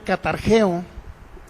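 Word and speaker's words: καταργέω: Anótele ahí en el griego significa es la palabra griega catargeo con G con G y con K. Es la palabra griega catargeo con K y con g. Catargeo, así como se pronuncia.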